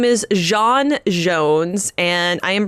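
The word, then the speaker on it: J'onn J'onzz: Martian Man Hunter yes so his name is Jean Jones and I am pronouncing it like that because that is the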